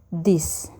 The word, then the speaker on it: this: kalau yang pertama ini ini dibacanya this jadi tanya agak tebel this this this itu maksudnya ini jadi